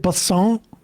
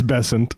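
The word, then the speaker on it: Bessent: Is it Basson? Is that how we say his name? It's Bessant. Bon Secretary Bessant.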